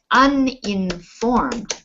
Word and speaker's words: uninformed: But if you are uninformed, it's pronounced un and not yun.